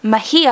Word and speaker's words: Mejia: set the dark on fire by hello hey Mejia I'm told is now it's how it's actually pronounced so I apologize for having pronounced this